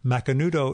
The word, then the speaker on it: Macanudo: just like it sounds Macanudo is ma CA and the you do you can find a